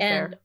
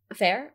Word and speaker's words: Fehr: O'Connor, Oded Fehr, I think is how you say it. Oded Fehr. Fair, okay.